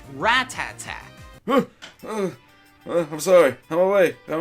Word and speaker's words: Rattata: as a kid a lot of you probably pronounce it a Rattata when in reality it's actually pronounced ratata I'm sorry I'm way I'm way what are